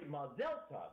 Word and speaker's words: mazel tov: And I found out in Israel it's actually Mazel tov. Mazel tov. Okay. All of us here in the United States, whenever we use the Hebrew or the Yiddish, we're putting our emphasis on the wrong syllables, and it's it makes